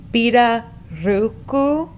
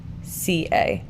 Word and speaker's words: pirarucu: So the pronunciation is pirarucu, Piraruca. No.